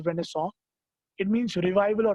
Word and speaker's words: Renaissance: is a French word who show English from pronounce car there's Renaissance but in French its when I saw it means you revival or rebirth if you